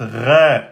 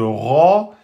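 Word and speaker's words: ر: Donc si vous dites ré au lieu de ro, c'est une faute de prononciation, c'est pas une faute grave. Ça va pas changer le sens du mot.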